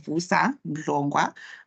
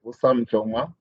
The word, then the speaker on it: Vusa Mlongwa: Vusa Mlongwa. I hope I have pronounced that correctly. Over to you, sir. Thank you, Madam. Yes, you have pronounced it very well. That's correct. It's Vusa Mlongwa.